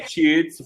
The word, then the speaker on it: cheat: But shit is short, the word short, the pronunciation, right? Short. Shit is the bad word. What? Because I think that shit is long word. Cheat. The pronunciation, yes, the pronunciation is long. Shit is bad word. The pronunciation is short.